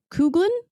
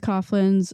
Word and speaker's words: Coughlin: Uh, Charles Kouglan, I think that's right. Correct me if I'm wrong. Coughlin. Coughlin. Thank you. I knew I was saying it wrong because I just watched